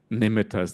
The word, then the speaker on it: nimitta: just briefly mention that the word nimita we often say nimita but really it's nimita is the proper pronunciation You know that.